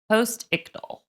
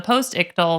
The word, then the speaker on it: postictal: It's spelled post I c t a l postal.